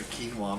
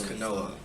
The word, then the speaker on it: quinoa: i can't believe you got quinoa quinoa i got the quinoa milk that's canola milk yeah no no whoa how does that